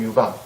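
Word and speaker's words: 潍坊: 그 제나라는 그 약간 오른쪽 편에 지금 현재 그 제남시 오른쪽 편에 보면 우리 발음은 유방, 중국 발음은 웨이팡, 웨이팡이라고 하는 곳이 제나라의 중심, 제나라의 수도가 있었던 곳이에요.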